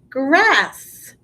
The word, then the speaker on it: grass: that s gr ass grass there's two s's grass i don't say grass i just say it like there's one s but when you spell